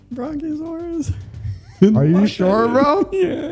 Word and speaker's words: Brachiosaurus: Brachiosaurus. It's a Brachiosaurus.